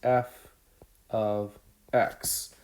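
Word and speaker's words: f(x): something called f of x so this is pronounced f of x so what that means is i'm plugging in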